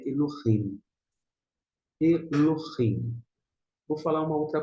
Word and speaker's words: Elohim: Tem pessoas que pronunciam o esse re, outras não. Se uma fala Eloim e outra fala Elohim, não se apegue ao fato de qual a pronúncia está correta, qual é mais exata.